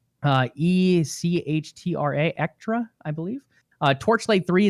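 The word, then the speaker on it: Echtra: acquired extra games i believe it's how it's pronounced uh e-c-h-t-r-a ektra i believe uh torchlight three is the game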